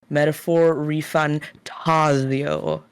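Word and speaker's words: Metaphor: ReFantazio: The game is pronounced Metaphor ReFantazio, but Okay.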